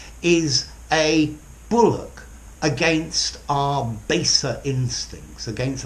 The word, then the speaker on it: bulwark: has a W but the W is silent a Bullock - Bullock yeah I think I've heard people say bull but I prefer - Bullock okay a Bullock is